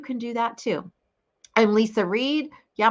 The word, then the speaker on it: Leisa: I'm Leisa Reid. Yeah, my name's spelled a little funny, but it's pronounced Lisa.